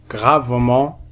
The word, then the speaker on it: gravement: ENT à la fin d'un adverbe, on le prononce en, gravement, durant.